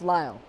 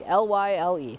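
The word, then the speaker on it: Lisle: And the other one is the place for the city name of where the Morton Arboretum is just pronounced Lyle, like Lyle.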